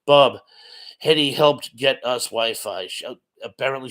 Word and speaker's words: Hedy: name um Edmond was as heady pronounced Heidi uh so he's saying